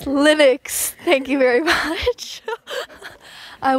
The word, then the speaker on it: Linux: do you say is it Linux what it's Linux thank you very much I was flicked many